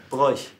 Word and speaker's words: Broich: My name is pronounced Broich.